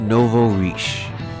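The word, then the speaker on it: nouveau riche: do you pronounce it is that Novo it's Novo reish Rich reish I don't know speaking of you know let me look it up right quick I'm back apparently it's pronounced Novo reish so that's what it is but in French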